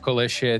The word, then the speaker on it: Klesia: First real upset we have for our day one is Klesia take a map away from focus. And yes, that's how you pronounce the name of Klesia.